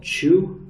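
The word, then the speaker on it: qū: So, all of these and all uh Chinese alcohol generally use something called chew uh which is spelled quu.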